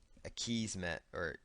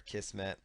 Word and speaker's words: Akismet: And then there's going to be another plugin here called Akismet, or Akismet, depending on how you want to pronounce it.